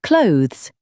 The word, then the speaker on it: clothes: Yes, it should sound close to the word close, but with a soft, blended th sound tucked inside.